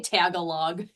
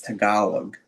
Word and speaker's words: Tagalog: I used to say Tagalog and then somebody was like, "Uh that is not how you say it." Yes, it's Tag- it's Tagalog and I do I do